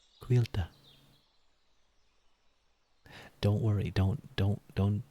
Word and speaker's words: Cailte: and um like in in some parts it can be pronounced um as kyta but I prefer quila I think it sounds